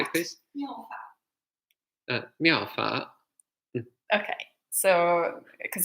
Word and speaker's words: Miao Fa: This is really cute, Miao Fa, but which is not pronounced like that.